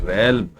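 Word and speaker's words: realm: है from the absolute रेल रेल का मतलब होता है क्षेत्र एल साइलेंट रहता है इससे दोस्तों यू हैव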